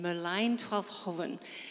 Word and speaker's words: Merlijn Twaalfhoven: And so I like to say it as many times as I can, Merlijn Twaalfhoven.